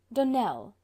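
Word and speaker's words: Donnell: Dunell, accent on the last syllable, and St.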